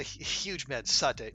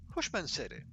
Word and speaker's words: Hushmanzadeh: No, huge man Sade. No, Hushmanzadeh. Hushmanzadeh? Oh, so close.